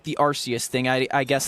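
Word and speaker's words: Arceus: But then again, I think Archus sounds better, but apparently it's Arus or whatever.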